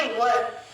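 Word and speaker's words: were: इसे बहुत लोग वेयर प्रोनाउंस करते हैं जो कि गलत है। इसकी सही प्रोनाउंसिएशन है व या फिर व। व को थोड़ा खींच के बोलेंगे र का साउंड नहीं आएगा। व ब्रिटिश इंग्लिश में अमेरिकन में र प्रॉपर बोलेंगे और बोलेंगे वर।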